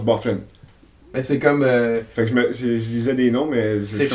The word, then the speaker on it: Byfuglien: Biffy Gluan. Lydiane. Quelque chose comme ça. Ah ouais, c'est drôle. Mais ça se prononce Byfuglien.